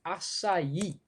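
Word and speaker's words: açaí: never said it aloud the fruit whose name is pronounced in three syllables is acai right somebody else said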